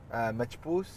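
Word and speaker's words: Machboos: Machpoos, which is like rice and chicken and like a broth and stuff.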